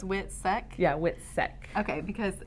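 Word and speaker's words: WITSEC: it the wh witness protection okay so it's wit SEC yeah wit SEC okay because it's funny witness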